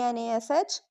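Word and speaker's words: gnash: G n a s h nash. G n a tnat. Important pronunciation s i g n sign d e s i g n design.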